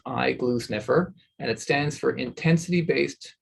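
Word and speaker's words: iGluSnFR: decade ago so it's quite new it's actually pronounced eye glue sniffer and it stands for intensity-based glutamate sensing fluorescent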